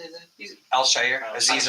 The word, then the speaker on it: Al-Shaair: He's Al-Shaair. Azeez Al-Shaair.